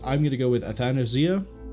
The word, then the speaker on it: Athanasia: I'm going to go with Athanasia. Athanasia.